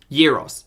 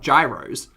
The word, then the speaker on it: gyros: um euros euros euros okay it is euros right it's not gyros because gyros makes me think gyroscopic i pronounce it like euros oh okay gyro or euro euro gyro zero yeah the g is a y it's my birthday